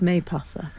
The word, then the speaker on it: Mapother: It's spelt Mapother, but it's pronounced Maypother.